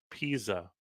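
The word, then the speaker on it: Piasa: It's pronounced Pisa by the locals.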